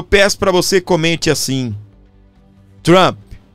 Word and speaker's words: Trump: Aí se pronuncia Trump. ou o americanizado vai mais longe ainda, né? Trump. Então, né? Mas aqui no Brasil nós falamos Trump, nos states fala mais chup, mais fechado, né?